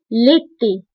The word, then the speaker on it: l'été: فصل الصيف او بيان ليتي. هذا سهل في النطق.